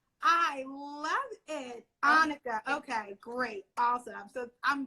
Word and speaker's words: Anicka: It's Anicka. Anicka. Yes. Wow, that is fabulous. Anicka. Like Monica without an M. I love it. Anicka.